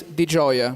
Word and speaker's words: Di Gioia: Well, the exact pronunciation is Di Gioia, meaning joyful in Italian.